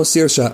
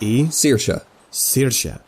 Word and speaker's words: Saoirse: You know, Saoirse, I hope the captain thinks of it that way.